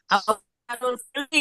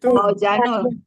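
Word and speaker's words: أوزان الفعل: Auzanul fi'li ya Kak Ir. Ya, Iya. Awanul apa? Bahasanya apa? Auzanul fi'li. ya Aujanul. itu bacanya auzanul fi'li.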